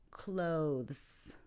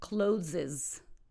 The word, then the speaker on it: clothes: recipe number six clothes clothes not closes or clauses clothes wow I really